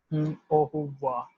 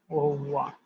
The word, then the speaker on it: au revoir: And the bye will be delivered as au revoir, au revoir, right?